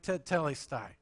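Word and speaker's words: τετέλεσται: me tell that word the Greek word there is the word we pronounce it something like tele-stai all right it's the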